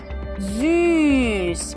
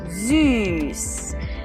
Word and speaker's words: süß: have the German word for sweet, which is süß. We have seen it already in one of our last series for the S, and this time we use it to pronounce the Ü, süß.